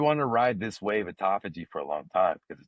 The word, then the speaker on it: autophagy: And and by the way, this word autophagy I just learned how to pronounce. I was talking autography and all these other things for so long. But it's autophagy.